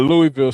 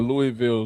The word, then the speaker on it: Louisville: I'm shouting out Louisville Slugger, the Louisville Zoo. First of all, it's Louisville. Like I said, it's not Louisville.